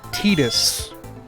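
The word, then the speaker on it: Tidus: Remember, that's pronounced Titus.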